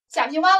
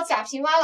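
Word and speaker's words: 贾平凹: 贾平凹老先生呢，他是陕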